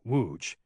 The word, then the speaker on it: Wuge: He pronounced the town correctly, Wooge, indicating he'd been here a while.